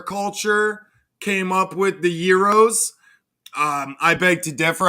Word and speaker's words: gyro: didn't come from the Middle East it's not pronounced gyro what the are you talking